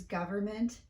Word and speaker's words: government: you been wondering why it sounds like americans drop the middle end in the words government and environment stay tuned and i'll